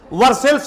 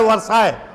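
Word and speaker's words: Versailles: से 12 मील दूर वर्सेल्स नामक जगह, जिसका हिंदी प्रोनाउंसिएशन होता है वर्साय, इंग्लिश में इसको वर्सेल्स कहा जाता है।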